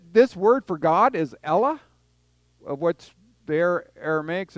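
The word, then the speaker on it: Ellah: that's what it'll say an ella but it's e-l-l-a not a-l-l-a-h it's e-l-l-a-h uh but that's just how they pronounce it and stuff but i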